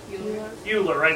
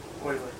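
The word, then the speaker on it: Euler: pronounced as a math major the most common mispronunciation is what you lorae that's what it looks like but it's not pronounced dueler cosi Riemann and oily I thought of the Houston Oilers sorry units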